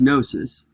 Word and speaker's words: gnosis: for knowledge is gnosis it starts with a silent G so it looks like a gnosis but it's gnosis and it is from